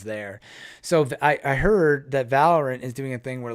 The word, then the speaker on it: Valorant: Valorant, yeah, Valorant.